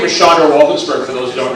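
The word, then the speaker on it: Sandor: could not understand that my name is spelled S-A-N-D-O-R and pronounced Shondor, and his name is spelled S-A-N-D-O-R and pronounced Sandro.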